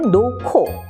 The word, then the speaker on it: 놓고: 예를 들어서 의자에 놓고 쓸 때는 히읗 기역인데 발음할 땐 놓고 좋지인데 좋지라고 발음을 해서 히읗과 지읒이 만나 치읒으로 바뀌고 히읗과 기역이 만나 키읔으로 바뀝니다. 그래서 자음이 만나면 기역, 디귿, 비읍이 크, 트, 프로 바뀌는 현상을 보실 수가 있겠습니다.